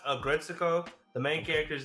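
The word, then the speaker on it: Aggretsuko: Agretsuko or Agret, how do you pronounce that? Oh, Agretsuko season 5. It's pronounced Agretsuko.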